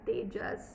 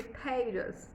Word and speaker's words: Tejas: And you get a little upset because it's not how my name sounds. I'm Tejas. Why do you say Tejas? Again, there is no T.